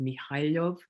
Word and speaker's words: Mihhailov: The next case is Mikhailov versus Estonia. Mikhailov is spelled Mihhailov versus Estonia.